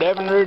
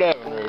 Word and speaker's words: Evinrude: I think that's pretty hot you know anyway Evan rude Evan rude Evan rude it's Evan r motor I'm going to say